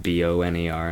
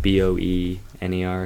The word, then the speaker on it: Boehner: There's no A sound in there. No, it's Boner. John Boehner. What is it, like Boener or something?